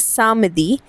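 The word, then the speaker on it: samedi: वंद्रदी then we have Saturday we से इट एज सामदी एस ए एम ई डी आई सामदी एंड the last one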